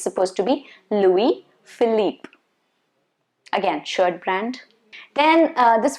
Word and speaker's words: Louis Philippe: louis vuitton okay and then you have louis philippe louis philippe not lewis phillip no that's wrong not louis phillip it's supposed to be louis philippe again shirt brand then